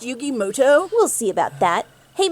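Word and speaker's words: Yugi Muto: turn wait a minute is that yugi mudo actually his name is pronounced yugi moto we'll see about that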